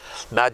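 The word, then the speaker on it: Madge: and his wife lived mad shine we used to pronounce her not m-a-d-g-e but m-a-d he was a very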